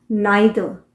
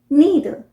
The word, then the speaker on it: neither: British pronunciation हुआ नाइदर। नाइदर। और American pronunciation हुआ नीदर।